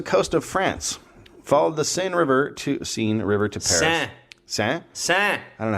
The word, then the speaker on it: Seine: C'est Seine. Jesus Christ. Glad you're here. Seine. It's Seine. just Seine. Even all the other letters. Just out the door. It is a little underpronounced.